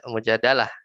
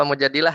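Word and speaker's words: مجادلة: misalnya firman Allah qahutiila Mujadalah Mujadalah apa Mujadilah nih bacanya Ustaz nanti di ini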